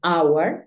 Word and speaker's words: hour: cuatro palabras en las que la H es muda por ejemplo Our que es hora tenemos eh honor y tenemos honest esas tres son las que